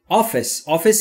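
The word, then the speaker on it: office: آفیس یعنی دفتر یا اداره. دقت بکنید دوستان، در مورد تلفظ آفیس من نگفتم آفیس، اوکی؟ یک ای کوتاه داره بین ای و ا.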